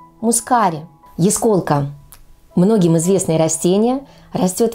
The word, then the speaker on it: ясколка: такая слегка Сизова Тая я встречала произношение этого слова с ударением на первых слух то есть ясколка а не ясколка что конечно же является неверным правильное произношение ясколка так же как и яснотка а не яснотка Запомните ясколка яснотка